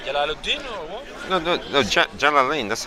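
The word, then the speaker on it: Jalalayn: Jalalain. That's how they pronounce.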